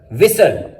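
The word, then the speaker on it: whistle: कैसल, fasten, लिसन, often, थिसल, विसल। Silent W, डब्ल्यू इज not pronounced at the beginning of a word followed by एन आर।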